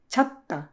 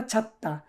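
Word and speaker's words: 찾다: তো সর্বশেষ কি আসে ছাত্তা উচ্চারণটা ছাত্তা এই দাটা যদি বাদ দেই তাহলে তাকে ছাত ঠিক আছে ছাত আবার ছাজও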